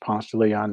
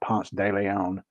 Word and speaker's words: Ponce de Leon: over on Ponce Leon Avenue and yes it's pronounced Ponce de Leon not Ponce de Leon uh that's how I think I sit here